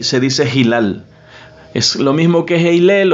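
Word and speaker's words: هلال: dice media luna en árabe, y se dice Hilal.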